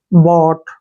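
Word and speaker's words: bought: यू जी एच टी अब इसमें भी क्या है वर्ड के लास्ट में यू जी एच टी आया है तो यहां पर यू को भी छोड़ देना है जी को भी एच को भी छोड़ देना है बी को क्या लिखते हैं ब ऐसे ब ठीक है ना और टी लिखेंगे ऐसे बोट बोट हो गया बोट बट मींस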